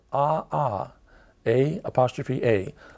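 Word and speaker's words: ʻaʻā: like cindery or Chun chinery lava that's called AA a apostrophe a it's very difficult to walk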